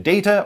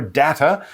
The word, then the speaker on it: data: data they need information data or data both pronunciations are completely fine and what we're talking